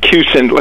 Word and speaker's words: Kussin: consensus oh my correct my pronunciation of your last name if it's wrong I'm saying kusen am I right ah cuson think I'll a quick